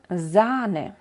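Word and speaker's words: Zahn: por el otro lado cuando queremos señalizar que de verdad es largo se puede hacer agregando una H detrás de la vocal Como por ejemplo en faren o zane para no dejar duda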